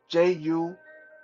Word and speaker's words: 祖先: Um, ancestor is pronounced 祖先, Jushian.